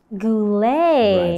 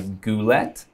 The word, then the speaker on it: Goulet: Goulet. Right. So, many would see it and think you would read it as Goulet because it has a T at the end.